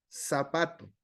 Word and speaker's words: zapato: Nosotros en nuestro español decimos zapato, lo pronunciamos como S, lo hacemos como sonido S, no lo hacemos zapato. Zapato ya sería el sonido Z, pero nuestro castellano o nuestro español no lo dice.